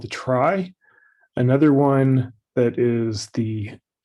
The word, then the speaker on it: trie: So the first idea is the one called a try. And I think that's the right pronunciation, at least that's the way I learned it. But I'm not actually sure that it's try.